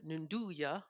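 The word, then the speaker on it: 'nduja: But there is a sausage called the Nunduja sausage. It's spelled apostrophe Nduga, and that sausage, well, it's really a salami technically, and it's spreadable, and it's very very spicy.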